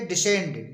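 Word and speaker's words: descend: एसेंड एसेंड मीस चढ़ना इसी तरह तरह से डिसेंड डी ई एस सी ई एन डी डिसेंड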